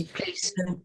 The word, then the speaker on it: plaice: Place. Sorry? Sorry, I was helping you out. Place. I know it looks weird Yeah. the way it's spelled, but that's it. It's how it's spelled.